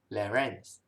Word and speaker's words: larynx: how to pronounce this so this will be called as pharynx and this one will be called as larynx okay so from mouth to